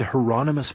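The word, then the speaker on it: Hieronymus: I said, "You said Heronmous Bosch." Like the painter? The second question confused him. I don't know anything about any painter, but that's his name. Rhymes with anonymous, I was told.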